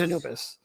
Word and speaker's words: Anubis: Is it pronounced Anubis? Yes. It is Anubis.